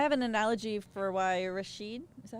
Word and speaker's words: Rashid: I have an analogy for why Rashid, is that how you say it? Bike Rashid, yeah.